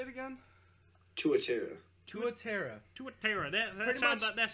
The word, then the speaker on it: tuatara: Tuatara.